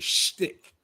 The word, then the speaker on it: shtick: Your shtick. Schmitty. That's how you say it, your shtick.